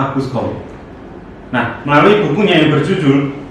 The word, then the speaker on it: Auguste Comte: Tulisannya Auguste Comte ya, tapi bacanya Auguste Comte.